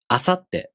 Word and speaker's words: asatte: For example, asatte. This word also takes 4 beats to pronounce.